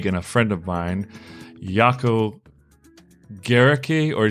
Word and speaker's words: Gericke: both are right because the original German is Jerrica okay and the Afrikaans people say Kirika that is more from